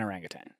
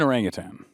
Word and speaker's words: orangutan: So I'm going to say like an orangutan. What was it? Say it again. An orangutan. Okay, it is an orangutan. I have always said orangutan. There's there's no G at the end.